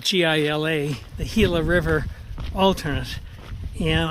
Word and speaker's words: Gila: Optimistic for a great day and once I hit the Gila um alternate, if you kind of Google that online, you can see the Gila alternate.